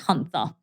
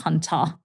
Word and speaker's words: Huynh: I always get it always gets pronounced hunther even with clients that have been with me for over 12 years or longer they pronounce it as Huna because that's how literally you would spell it but phonetically it's Hunter according to how you'd pronounce my name um so you know